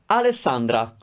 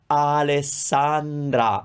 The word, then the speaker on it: Alessandra: the same importance america alessandra alessandra that's the name three r sounds and they all sound the same alessandra alessandra alessandra so if